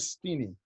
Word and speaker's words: Stinney: for the execution to go through his George Stinney I think it's highly pronounced it's teeny tiny it's George's STI and